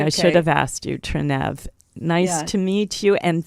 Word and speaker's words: Trenev: it will you please welcome my guest Trine to my show hi hello thank you just wanted to say the last name is trenev trenev all right I pronounced it wrong I should